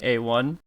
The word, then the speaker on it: A1: It's pronounced A1.